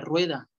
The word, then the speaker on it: rue: Cierren bien el sonido de la U en calle, porque se parece mucho a la palabra rueda. Calle es rue, rue, con la U francesa.